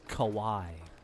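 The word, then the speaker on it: Kauaʻi: some caves in Kawai and snorkel snorkel it's pronounced Hawaii Kawai the island of Kawai oh wait for me all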